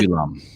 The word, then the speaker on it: vinculum: Vinculum. That's how it's pronounced.